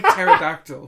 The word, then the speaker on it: pterodactyl: Silent P there. Fired P there. It's like pterodactyl.